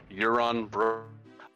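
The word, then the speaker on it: Yaron: a really weird thing his name's about y-a-r-o-n but the only way i can remember to say it right is to think of the character from game of thrones uh the greyjoy pretty uh pretty cool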